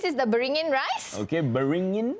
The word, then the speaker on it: beringin: Okay, beringin, or you call it the bring it in rice. If you can't pronounce it properly, B-E-R-I-N-G-I-N. 1 point for you.